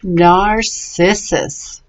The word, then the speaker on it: narcissus: those two is it it's a soft sea so it says narcissus very good our sis us let me hear you NARR sis us alright you got it